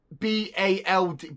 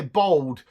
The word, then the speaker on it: bald: Up north, it's properly, the correct pronunciation is B-A-L-D, bald. But because I'm southern and dumb, I say bold.